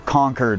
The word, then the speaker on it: Concord: Western w-u-s-s t-e-r Western or conquered versus Concord if we actually pronounced English the way it was spelled every Concord would be Concord like the jet but no one says